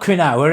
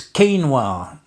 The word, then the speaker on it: quinoa: Yesterday, somebody's only comment about my meditation and prayer video was you spelled you you didn't pronounce quinoa right. It's not quinawa, it's quinoa.